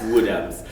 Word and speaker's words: Woodhams: There's an S on the end. Oh, there's Woodhams. All right. Yeah, it's Woodhams.